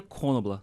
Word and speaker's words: Knoblauch: Madison Ferreira Knoblauch Machado. É isso aí. Em alemão se pronuncia Konobla.